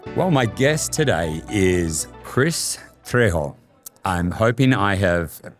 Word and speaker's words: Kris Trejo: Well, my guest today is Kris Trejo. I'm hoping I have pronounced that right.